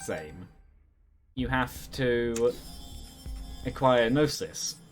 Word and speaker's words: gnosis: you have to acquire gnosis i think it's narcissism like g is silent in that once you